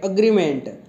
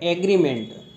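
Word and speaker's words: agreement: meaning होता है अगला अग्रीमेंट इसमें हम बहुत सारी गलती करते और बोलते हैं एग्रीमेंट एग्रीमेंट नहीं होता है इस कुएं अग्रीमेंट अग्रीमेंट का मीनिंग होता है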